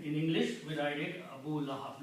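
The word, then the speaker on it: Abū Lahab: So Abu Lahab is the full word. If you stop, you say Abu Lahab. If you continue reading, it's Abu Lahabin.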